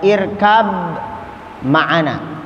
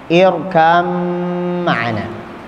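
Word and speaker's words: اركب معنا: Contoh, kita dengar ada irkab ma'ana, irkab kan ba ya. Kemudian ada mim. Dibacanya bagaimana tuh? Irkam ma'ana. Ba-nya tidak dibaca, tapi diidghamkan ke dalam mim.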